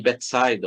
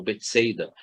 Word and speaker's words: Betsaida: Recorrendo ao Evangelho, fonte de toda a sabedoria, mencionaremos por oportuna aquela passagem que Jesus, estando em Betsaida, ou Betsaida, como vocês preferirem, as